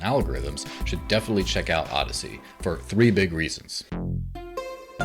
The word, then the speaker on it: Odysee: the market and it's called odyssey spelled o-d-y-s-e-e yeah i'm gonna take